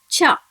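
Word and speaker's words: ちゃ: Similarly, the alphabet chi from the ta line, when joins with small ya, it should be pronounced as cha.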